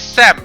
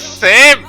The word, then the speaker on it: Sam: I I Go by different name in Thailand you know like you guys know me as Sam right but in Thailand they don't call me Sam they call me Sam because that's how they pronounced my name and then I became known as same in Thailand like same i' be